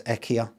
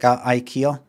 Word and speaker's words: IKEA: So I want you to, over the phone and to the customer, pronounce it as IKEA. Right, but what if they go like IKEA?